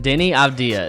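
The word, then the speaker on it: Deni Avdija: i am going to need your help with pronouncing denny abdia and the wizards you nailed it denny abdia is earning quite the reputation on the defensive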